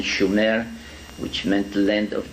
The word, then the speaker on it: Sumer: sooner in in in the correct spelling and pronunciation schumer which meant the land